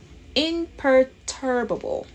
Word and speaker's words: imperturbable: r t r b a b l e imperturbable yep you got it and the restaurant's location